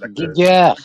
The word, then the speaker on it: Giger: Fait que c'est du typique HR Geiger, ou je sais pas si c'est JG ou Geiger, qu'on prononce, là. Giger. Giger, il est allemand. C'est un allemand, c'est Giger.